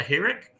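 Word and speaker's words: חִירֶק: Oh, I thought that was pronounced with a I like bitter. That's what I'm saying. Like sometimes it will be that short I sound, but as we So in this word in particular, we're going to see it's not it, but e.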